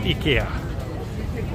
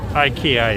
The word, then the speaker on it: IKEA: sweden we pronounce it ikea ikea is the kind of americanized way but sometimes when i